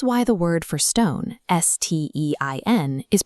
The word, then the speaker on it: Stein: If it's paired with a T, they make a sht sound. This is why the word for stone, S-T-E-I-N, is pronounced stein, and the word for play, S-P-I-E-L, is spiel.